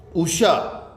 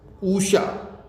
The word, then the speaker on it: उषा: उषा, ऊषा क्या शुद्ध है? ऊषा, ऊषा शुद्ध है? नहीं, उषा छोटा ऊ।